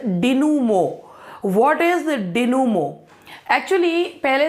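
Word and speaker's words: dénouement: इसका जो प्रोनाउंसिएशन होता है दैट इज डिनूमो।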